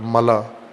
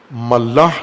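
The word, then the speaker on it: ملأ: ملا ملاح نہیں ہے، بعض غلط تلفظ کرتے ہیں. ملا، میم لام الف حمزہ، ملا. جیسے خلا ہوتا ہے، خلا، غلط تلفظ خلا کرتے ہیں اردو میں، یا اردو سے ملتی جلتی زبانوں میں خلا نہیں ہوتا، خلا، اور اسی وزن پر ہے ملا.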